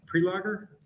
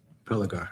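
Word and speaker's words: Prelogar: Solicitor General Elizabeth, how do you say her? Is it pre-logger? Pelagar, I think." Praigger. Okay.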